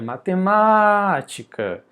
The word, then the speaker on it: matemática: Não é matematica. Nem matematica. É matemática.